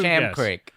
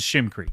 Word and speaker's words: Sham Creek: Sham Creek, which you pronounced as Shim Creek.